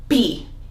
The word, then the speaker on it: pi: We call it P in Greek, but in English you call it pi because it is spelled in English P-I, which, as you know, the letter I in English is an I sound, but in Greek it is an E sound, so we call it P.